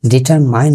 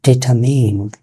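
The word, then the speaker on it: determine: ডিটারমাইন না, উচ্চারণ হচ্ছে ডিটারমিন, ডিটারমিন।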